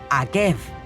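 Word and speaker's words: עָקֵב: Akeiv, la misma palabra, pero se pronuncia distinto. Es decir, Deuteronomio 7:12, que abre la parashá Ekev, que significa sí, se escribe igual que calcañar, talón, que se pronuncia Akev. La misma palabra.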